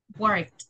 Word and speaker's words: worked: So if I have a verb that ends with a voiceless sound, what is the pronunciation of the ed? What is the sound for the ed? Like a t.